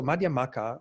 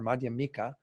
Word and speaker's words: Madhyamaka: Again, these can all be a way that this last syllable ka. So Madhyamaka or Madhyamika, again, used in different contexts, with slightly different